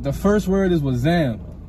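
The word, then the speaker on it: wassam: going up all right the first word is was zam was zam all right you spell that bit like w-a-s-s-a-m right so exam is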